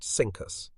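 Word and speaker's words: CINCUS: from its unfortunate predecessor cinus pronounced cinus beneath nimitz's steady as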